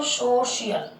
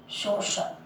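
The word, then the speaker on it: social: अगर सी के आगे आई ए दे रखा है तो सी का उच्चारण क्या होगा, श होगा। जैसे आई ए आ रहा है, क्या बोलेंगे इसको, सोशियल या सोशल, सोशल।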